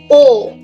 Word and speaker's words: aux: A plus les becomes O with an X, but we don't pronounce it.